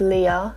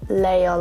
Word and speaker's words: Leah: spelled like this and it's pronounced Leah not Leia like in Star Wars so my age I